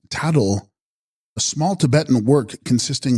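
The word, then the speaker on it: Btags-grol: with turquoise combine them text TGs Groll pronounced tattle a small Tibetan work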